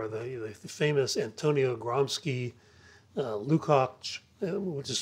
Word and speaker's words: Lukács: I had them read some of the literature of cultural Marxism, and among the authors there are the famous Antonio Gramsci, Lukács, which is spelled Lukacs, Herbert Marcuse, Adorno, Horkheimer, Brecht.